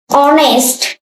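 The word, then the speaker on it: honest: একদম সহজ ঠিক আছে হ্যাপিনেস সুখ আনন্দ অনেস্ট এই জায়গায় ঝামেলা অনেস্ট বলবা না ঠিক আছে এখানে এই এইচটাকে সাইলেন্ট হবে অনেস্টি অনেস্টি অনেস্টি অনেস্টি সততা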